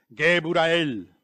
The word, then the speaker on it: Geburael: And for instance, when you read Christianity, you find that the angel Geburael, is how you say it, you see, we pronounce it, for instance, in the invocation of Solomon, we says Geburael, which is Gabriel, same thing, because if